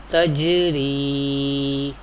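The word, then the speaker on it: تجري: And there is ya, there is zir before ya sakin, this is ya madda. And madda letter we pronounce by stretching up to one alif or two harakat. Ya letter is sakin here because it has jazm sign, sukoon sign or sakin sign. Recite like this: tajri, tajri.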